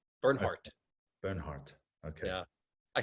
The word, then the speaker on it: Bernhardt: it does it's like do i pronounce the t or do i not you do burn heart burn heart okay yeah